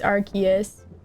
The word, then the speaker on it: Arceus: Japanese pronunciation is Arceus if I recall, and it's weird because so many legendaries intentionally have the Japanese names ported over.